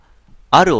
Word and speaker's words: 或る: ありましたねタイトルがある男の独白と読むんでしょうかはい読むんですこちらをプレイし